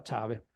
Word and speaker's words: clave: questo ghirigoro per cui si scriveva per esempio clave e si pronunciava ciave si scriveva canargo e